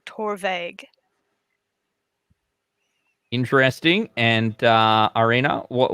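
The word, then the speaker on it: Torabhaig: uh i'm pretty sure the first a is silent so i think it's tour vague interesting and uh arena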